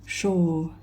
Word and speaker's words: 收: ต้อง ชื่อ ตัว นี้ นะ คะ อ่าน ว่า Show สิ้น นะ คะ แปล ว่า รับ จด หมาย